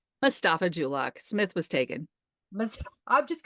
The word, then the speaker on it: Mustafa-Julock: Mustafa-Julock.